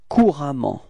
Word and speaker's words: couramment: Repeat, courant, okay, and it will transform into couramment. Repeat, couramment, okay, so actually the same pronunciation, but then you've got to write this A for this case, okay.